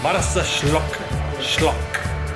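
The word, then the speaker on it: Marsaxlokk: Malta with a very hard K with an extra at the end. Malta Schlock.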